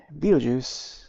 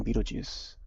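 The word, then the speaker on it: Beetlejuice: on the star but it's pronounced as you know beetle beetle and then juice okay so it's that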